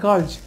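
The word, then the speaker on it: girls: আর আর এল এস এটাও কিন্তু উচ্চারণ সঠিক উচ্চারণটা হচ্ছে গার্লস আমরা এটা কী করেছি প্লুরাল করেছি অর্থাৎ আপনারা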